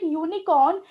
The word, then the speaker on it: unicorn: Okay, so now don't get confused, a unicorn, because when we pronunciate unicorn, it sounds to start with u, which does not comes in vowels.